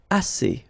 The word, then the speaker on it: assez: Assez means enough. Okay? Assez. Remember, two vowels here, a and then e, and then double s. So it's really strong, the s. Assez. Assez.